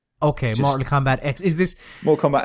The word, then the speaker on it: Mortal Kombat X: I think it's X I'm pretty sure it's pronounced X even though it's the 10th game it's X okay Mortal Kombat X is this Mortal Kombat